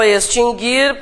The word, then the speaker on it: extinguir: Nunca teve trema, o U nunca foi pronunciado, nada mudou então, né? Tá. O que a gente quer? Verbo extinguir, presente do indicativo, terceira